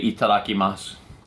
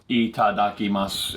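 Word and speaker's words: いただきます: to say itadakimasu itadakimasu it's also five syllables ready eat it mouth itadakimasu looking mouth they sound exactly the same don't they you can get away with it that's the way to remember it five syllable words are tough I'm a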